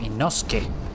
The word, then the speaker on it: Inosuke: Él es Inosuke, o Inosuke, como se pronuncia.